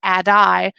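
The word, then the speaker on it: ADDIE: Suarez says a TA ddie is actually pronounced a die because the e is typically silent and he says that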